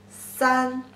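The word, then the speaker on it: 三: Pronunciation is san, si, an, san.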